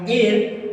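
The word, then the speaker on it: heir: यहाँ पर जो एयर वर्ड है, यहाँ एच हमारा साइलेंट होता है, तो ये हमारा हो गया एयर, और एयर यहाँ पे वोवेल साउंड आ गया, हम लोग भरेंगे।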